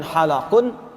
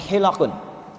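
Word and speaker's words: حلق: Perhatikan cara bacanya. Bukan halaqun, tapi hilaqun.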